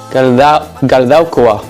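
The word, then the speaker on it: Galdakao: How do you say it? Galdaukoa.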